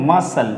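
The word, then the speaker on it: muscle: छोड़ देंगे एक्वाइट एक्वाइट सी को हम प्रोनाउंसिएट नहीं करेंगे एक्वाइट यहां बोलेंगे म इसको नहीं बोलेंगे मसल मसल मसल हम क्या करेंगे सी को प्रोनाउंसिएट नहीं करेंगे मसल ठीक है और यहां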